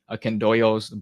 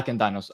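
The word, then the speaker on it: Akindynos: Because if we understand Scholaris, right, in his third tome and his sixth tome, right, his commentaries on the Akendoios, Barlaam, Aquinas, and Aristotle. Yeah, Akendinos. I pronounce things wrong.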